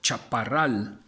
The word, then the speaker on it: Chaparral: And so I went with the Chaparral, or Chaparral. That's how it's pronounced.